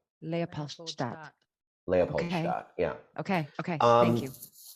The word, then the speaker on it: Leopold: listeners this is how you say it leapolt leapat leapolt yeah Okay.